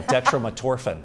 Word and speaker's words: dextromethorphan: How do you pronounce that? Yeah, dextromethorphan.